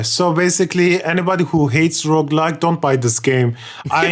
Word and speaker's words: roguelike: Yeah, Roguelike. exactly. But I keep saying road. It's roguelike.